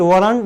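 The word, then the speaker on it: weren't: Note का short form वरन बन गया, राइट। वरंट या वरन बोलिए, दोनों pronunciation is the right pronunciation.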